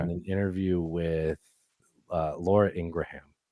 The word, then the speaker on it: Ingraham: interview with uh Laura Ingraham I pronounce every syllable sure it's ingr you do you can't say that it's Laura Ingram it's Ingraham Ingraham yes sound off be